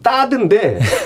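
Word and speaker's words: THAAD: 사드라는 게 고고도 미사일 방어 체계잖아요. 그래서 원래는 번데기 발음은 따드인데 사드라 그랬다고 어떤 무식한 정치인이 S자도 모른다고 참 무식한 T자죠.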